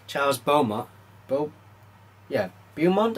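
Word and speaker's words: Beaumont: Charles bont Bo yeah bont I think it's is how you pronounce his name b e u a m o n t how chose to pronounce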